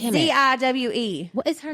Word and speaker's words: Ziwe: Yes, Ziwi. Yes, I know. Not Ziwi. It's Ziwe.